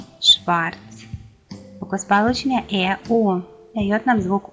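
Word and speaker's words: schwarz: Буквосполучення SCH дає нам звук Ш. Шлехт, Шварц.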